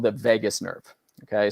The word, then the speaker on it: vagus: And there's another part of our brain and our body that's called the vagus nerve. Okay, spelled V-A-G-U-S, but pronounced like Las Vegas.